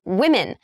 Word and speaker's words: women: Although the spellings of these 2 words are roughly the same and only the vowel sound at the end appears to change, actually the O sound at the beginning of the word also changes.